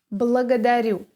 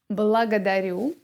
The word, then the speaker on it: благодарю: Next is . I am listening... All right: . Here we also have [a].